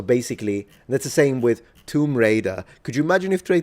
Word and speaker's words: Tomb Raider: Although every Italian, I'm talking 99.3% of the population mispronounces Tomb Raider into Tomb Rider.